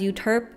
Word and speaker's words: Euterpe: But it was a good mistake because Euterpe kind of rhymes with derp, and that would have not been good, like brand-wise, I feel.